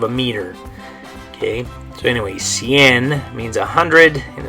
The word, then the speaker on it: cien: And the way you're going to say this one is ciento.